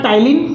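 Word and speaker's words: ptyalin: तो ये है अपना टाइलिन, देखो पी से स्टार्ट होता है बट पी साइलेंट है यहाँ पे, ठीक है।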